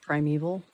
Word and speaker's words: primeval: I know supposedly it's pronounced primeval, but I don't like that pronunciation because it contains the sound of the word evil and I think that's totally contradictory. So I'm choosing to pronounce it primable.